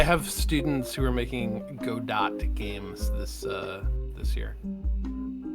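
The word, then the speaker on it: Godot: And if anyone tries to tell me that it's pronounced GDAU, I want to let you know that if you just look at those letters together, it's go Dot. It seems self-evident.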